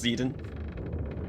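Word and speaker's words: Zidane: just want the game to look normal it's pronounced zeden but you're just trolling it's it's me zeden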